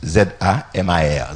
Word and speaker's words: zamar: merci éternel Hébreux ses Amar Zama comme ça se prononce Z a M a r zamar donc si on t'aime